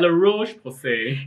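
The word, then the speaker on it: La Roche-Posay: How do I pronounce this brand name again? La Roche Posay.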